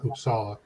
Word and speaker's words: Uppsala: i first arrived in usa um even though it's spelled with a u it's an ah i thought it was